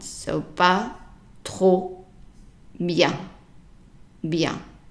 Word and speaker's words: bien: So pas trop bien. Bien. So remember we said the EN is pronounced as an en in comment, but if it is preceded by an I, then it's pronounced bien.